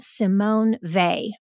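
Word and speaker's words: Simone Weil: Kate loved and this is a woman named Simone vay I'll share something with our audience that I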